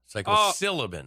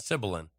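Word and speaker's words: psilocybin: that okay psycho sullivan okay syllabin not sibilan say it real time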